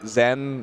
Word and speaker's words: Zain: zen oh that's funny did you guys know that zen is actually closer to how you pronounce it that's that is